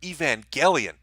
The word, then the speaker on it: Evangelion: Neon Genesis Evangelion see I said it right Evangelion well that wouldn't it wouldn't impart the message